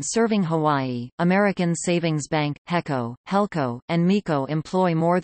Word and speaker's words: HECO: Electric Company often abbreviated HECO pronounced he Co H incorporated on October